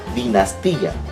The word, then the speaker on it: dinastía: de más ya dinastía pero en mi forma como he pronunciado no estoy hablando de dinastía sino yo digo dinastía y para poder yo